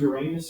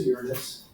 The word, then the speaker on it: Uranus: So this discovery of what we now know as Uranus, and you can pronounce it Uranus or Uranus, the discovery was new and cool because it was a new object that was wandering around the sun.